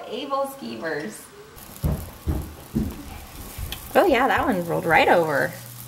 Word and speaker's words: aebleskivers: Yeah, these are called Ablekeevers. Yeah, at least that's how my family pronounced it.